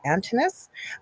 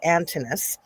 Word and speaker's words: Antinous: I want to say it right. It's Antinous. So there said the kid, but it's Antinous, as Hercules or Osiris.